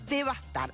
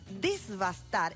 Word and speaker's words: devastar: Devastar se escribe sin S. La fórmula desbastar está, es el barbarismo, está mal, y tenemos que pensar